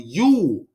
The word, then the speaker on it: Yule: But it's, see, it's spelled with a J. I just said Jewel, but it's actually Yule.